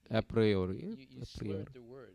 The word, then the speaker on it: a priori: the second syllable but when you speak English you always emphasize the first syllable so it'd be at priori the stress is on the first settlement yeah so our process